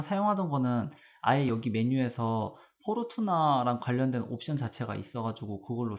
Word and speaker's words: 포르투나: 제가 사용하던 거는 아예 여기 메뉴에서 포르투나랑 관련된 옵션 자체가 있어가지고 그걸로 사용을 했었거든요. 근데 여기서는 이렇게 나오네요. 네, 알려주셔서 감사합니다. 여기 보시면은 랏 오브 포르춘 이제 포르투나라고 읽고요.